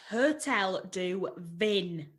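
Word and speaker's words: Hôtel du Vin: We're staying at, and this is another French thing, so maybe you would like to pronounce it. Hotel du Vin. Yeah, that's Hotel du Vin.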